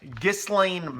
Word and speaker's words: Ghislaine: page today is that dis Lane Maxwell I believe her name is pronounced Ghislaine Maxwell Jeffrey Epstein's girlfriend was